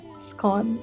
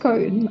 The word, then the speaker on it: scone: Scone. I love it. There's like a debate if you you know but like whether it's pronounced cone or scone but apparently in Quinn in the Queen's English it's con so I mean of